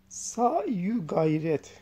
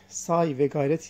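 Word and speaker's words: sa'y u gayret: Evet Osman El-Kazani Sa'yu gayret. Say ve gayret yazıyor. Say ve gayret. Tamlamalı okuyoruz. Sa'yu gayret diye okunuyor. Keza yukarıda da arkadaşlar tamlamalı okuyabilirdik.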